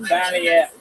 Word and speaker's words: Balliet: Balliet. Wow. Balliet. I said it right the first time. You're French. It's French.